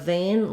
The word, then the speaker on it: vein: part we have this vein is the least common something like a weather vein and this kind of vein which is um full of oneself they all have the same pronunciation though so we can see